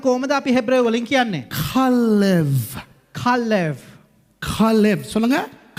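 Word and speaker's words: כלב: Kalev. சொல்லுங்க. Kalev.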